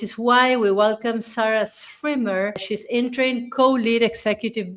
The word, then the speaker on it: Schwimmer: These are Noticias Positivas, which is why we welcome Sarah Schwimmer.